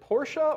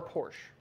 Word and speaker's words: Porsche: well let me ask you how do you pronounce the name of your car is it porsche or porsche it's porsche okay if you say so no